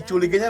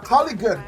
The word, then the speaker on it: Coligan: Hindi chuligan yan na Coligan. Coligan pala totoo pang pronunciation niyan.